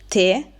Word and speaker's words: te: Senza accento si legge te con la e chiusa. Si tratta di un pronome indiretto, quindi per esempio grazie, grazie a te.